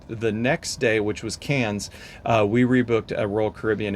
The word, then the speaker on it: Cairns: It looks like it should be pronounced Cairns, but it's pronounced Cairns.